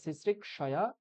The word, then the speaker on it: সিসৃক্ষয়া: না না, ওরকম বলা যাবে না, ওটা ভুল উচ্চারণ। ঠিক আছে, সিসৃক্ষয়া এটাই বলতে হবে। কেন বলতে হবে? কারণ এই যে আমরা এই স লিখছি, এই স অর্থ হচ্ছে ক যুক্ত মূর্ধন্য সকার, এই দুটো মিলে এই স হচ্ছে।